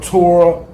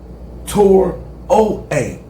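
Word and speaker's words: Traoré: I think I'm saying it right. I think it's Torah or Torah OA. Torah OA.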